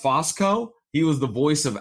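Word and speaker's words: Fusco: We have Jason Bateman, Corbin Burnson, Betty White, Rhea Perlman, Malcolm Jamal Warner, Paul, I think it's pronounced Fosco.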